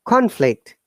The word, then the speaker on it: conflict: contact so easy way for the noun it is upper intonation to falling intonation rise intonation the following conflict is going up and down okay for verb is down top conflict is that clear guys